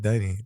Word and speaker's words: Deni: Deni, I gotta say it right, Deni. Oh yeah, you said Dani in the beginning, which everybody in Israel call me Dani for no reason. My name is Deni.